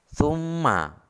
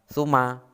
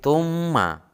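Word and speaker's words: ثُمَّ: Cara membacanya, summa. Mimnya seakan-akan double atau 2. Summa, bukan summa, tetapi summa.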